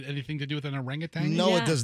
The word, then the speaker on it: orangutan: Orangutang. Yeah. Orangutan. I Yeah, I always want to say tang.